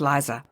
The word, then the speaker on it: Lisa: He tells you he can no longer tolerate working with Lisa, pronounced Liza.